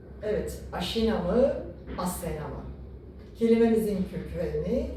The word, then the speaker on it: Aşina: Dişi kurtta yeniden Türk boylarının dünyaya geldiğine inanıldığı için o aşina boyu dişi kurtla özdeşleştirilerek asena olarak yanlış telaffuzdan dolayı günümüze gelmiştir.